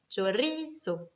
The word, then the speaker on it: chorizo: Le mot chorizo, qui est un mot qui se finit donc par un O, donc par une voyelle, va être accentué naturellement sur ri. Chorizo.